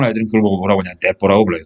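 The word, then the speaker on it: 鉄砲: 그걸 보고 뭐라고 하냐, 떼뽀라고 불러요, 떼뽀. 한자로 쓰면 철포인데, 일본 발음으로 하면 떼뽀 그러거든요.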